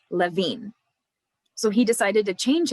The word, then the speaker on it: Lewin: last name is pronounced levine the w in german has a v sound levine so he decided to